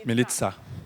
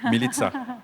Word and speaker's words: Milica: I have a quick question for Milica. Sorry if I mispronounced your name. It's Milica. Sorry? I trained one day to say correctly. Milica.